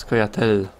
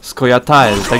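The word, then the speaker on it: Scoia'tael: Jeszcze trochę teraz się muszę przedstawić, bo słuchałem sobie ostatnio audiobooka Wiedźmina, w którym mówią Skojatael, tak jak pisze się. I teraz właściwie nie wiem, jak to mówić, bo w grach mówią właśnie Skojatel, a w książce jakby to czytać dosłownie, w sensie dokładnie.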